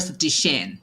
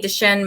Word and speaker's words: Duchenne: but mostly i heard the shane what's the origin of that it's a doctor a discover the gene this is a french doctor oh wow so dmd duchenne muscular dystrophy over 17